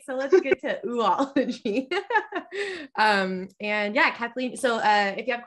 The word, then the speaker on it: Oology: So welcome everyone to Old Time Oology, which is my understanding that's the pronunciation of this particular ology, but it is an older word. So I'm happy to hear other opinions, other authorities on that matter.